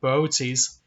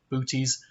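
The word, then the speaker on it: Boötes: in the constellation of beauties and yes that is actually how you say it not booties um also known as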